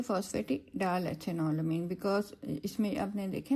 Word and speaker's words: phosphatidyl: Sorry, बल्कि हम इसको जो है ना phosphatidyl प्रोनाउंस करेंगे, AL आएगा इसमें, ठीक है, phosphatidyl बिकॉज इसमें आपने देखे ना ईथर लिंकेज है.